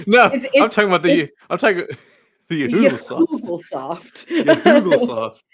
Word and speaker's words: Yahoogle-soft: No, I'm talking about the Yahoogle-soft. Yahoogle-soft. Yes, you are saying it correctly, Thomas.